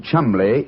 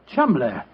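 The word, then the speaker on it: Cholmondeley: Being an American, he had no reason to know that the name Cholmondely is in no way pronounced the way it is spelt. Well, I never thought of that. Cholmondely.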